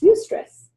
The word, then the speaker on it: eustress: Eustress. Eustress. Oh, okay. Stress that's positive stress. Yes, it's not distress, it's eustress.